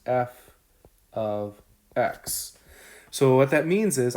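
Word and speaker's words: f(x): something called f of x so this is pronounced f of x so what that means is i'm plugging in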